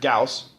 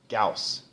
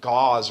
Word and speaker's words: Gauss: Carl Friedrich Gauss and notice how we pronounce his last name Gauss so many times I've heard people say gauze or something like that I've never figured out where they get gauze from that but it's Gauss okay so he realized